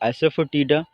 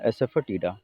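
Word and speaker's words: asafoetida: Coarse गायक दल था, कयोस कंफ्यूजिंग सिचुएशन था, एसफटीडा, मेन आपको प्रोनाउंसिएशन पे ध्यान देना है, एसफटीडा, ठीक है, एसफटीडा यानी ऐसा फेंका टीडा, इस टाइप से आप याद करिएगा।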